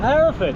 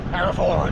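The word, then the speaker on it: Hereford: We've just arrived in the city of Herafford. Herford.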